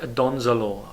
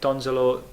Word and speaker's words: Donzelot: Jacques Donzelot, I love this name. I don't know if that's how you pronounce it right, but I'm going to say that's a silent T at the end.